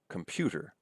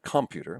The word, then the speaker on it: computer: We don't say computer. We say computer with the stress here, and so on, right?